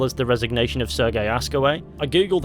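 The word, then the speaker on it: Hascoët: the resignation of sergey askaway i googled how to pronounce his name and it sounds a bit like ask away which is a bit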